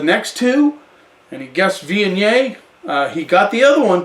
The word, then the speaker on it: Viognier: Viognier. I just phonetically could not get it right. But Viognier kind of took a foothold, I guess, in the northern Rhone Valley.